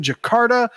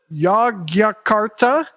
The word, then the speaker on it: Jakarta: include live dates in Jakarta yakarta Jakarta okay it's spelled with a Y it is but it's